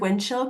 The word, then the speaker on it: wind chill: For spelling, the word wind chill could be difficult because when we say it quickly in English, we don't pronounce the D very clearly.